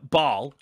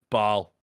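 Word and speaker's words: Basel: now you know uh ball b-a-s-e-l i think it's pronounced ball isn't it it's in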